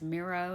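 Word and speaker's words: Mirro: for about $80 it's for the brand is miro it's spelled MIRR oh it does not have it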